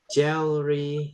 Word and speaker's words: jewelry: Coba E-nya ini Jewelry. saya hapus ya. Ini bacanya gimana nih? Jewelry. Jewelry yang gitu.